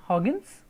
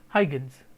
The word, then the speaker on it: Huygens: The pronunciation is Huygens, or as usual when we say it, we Indians, when you use it, we say Huygens.